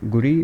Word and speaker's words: Guri: Your wife's name is Guri. How do you pronounce it? It's Guri, or Yeah. Is that correct? Yeah, Guri. It's short for Gurinder.